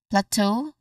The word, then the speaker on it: plateau: So we get plateau again. Plateau. The stress is on the second syllable. Two.